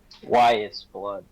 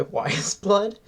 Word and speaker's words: Weyes Blood: to say it Matthew how do you say it again why is blood thank thank you it's Titanic wising by why is blood um so I've been